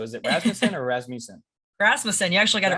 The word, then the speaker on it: Rasmussen: It's pronounced Rasmussen, right? We've always talked online. So is it Rasmussen or Rasmussen? Rasmussen, you actually got it right the first time.